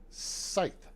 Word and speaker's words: scythe: That is a scythe, not a scythe. Scythe, not a scythe. A scythe. Okay, hang on. I'm gonna let her say it for you. All right, hang on. Let's see. You should hear this. Okay, S-C-Y-T-H-E. It is a. Now, what's funny is the pronunciation next to this is spelled Sith, S-I-T-H, but it's a